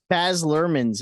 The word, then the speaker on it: Baz Luhrmann: all right so most of us watched Elvis baz luhrmann's Elvis That's how you say his name huh